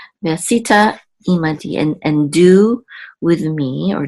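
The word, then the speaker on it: עִמָּדִי: Okay, ve'asita imadi. The accent is on the last syllable, di. Ve'asita imadi, and do with me, or deal with me.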